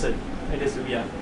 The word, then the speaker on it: Ouya: It is Ouya. It's like Booya without the B.